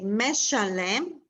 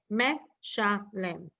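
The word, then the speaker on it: משלם: In the next word, let's say meshalem, it's harder for me to blend mesham. So it becomes a short e, meshalem.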